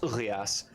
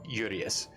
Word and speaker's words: Urias: okay uh and she she pronounces uh their name as urias um but they are normally like in a usual common uh accent um yurius uh you are i a s okay the